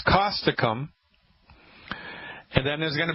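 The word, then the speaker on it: Causticum: to try you ready yes all right it's caustic um spell that see like Charlie a u s like Sam T like Thomas I see like Charlie you M like Mary caustic um I'll spell it again ca us T hi-c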